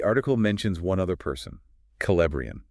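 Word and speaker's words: Celebrían: The article mentions one other person, Calbrian. Calbrian. Okay, another K sound for that C. Calbrian, right?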